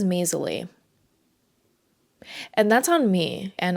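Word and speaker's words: Maysilee: I've been saying Maisily, but her name is Maisley.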